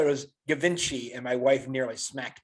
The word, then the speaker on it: Givenchy: I said it was Givenchy, and my wife nearly smacked me.